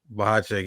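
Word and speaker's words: Bohachuk: Bubachek? How you pronounce that name? Bubachek? Bahacek.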